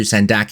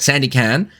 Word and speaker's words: Sandakan: now for anyone asks the correct pronunciation is sand though I will also accept Sandy can as well on the 7th of